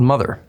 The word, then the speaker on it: MOTHXR: It's called Mother, spelled with an X.